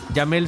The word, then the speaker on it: Yamel: Yamel se pronuncia así, Yamel Ramos.